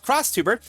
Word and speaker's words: X Tuber: parts wonder and criticism Japanese VTuber community pronounced Cross Tuber.